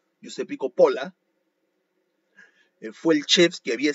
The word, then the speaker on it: Coppola: Giuseppe Coppola, o Capola le dicen otros, pero se escribe con O, Giuseppe Coppola, fue el chef que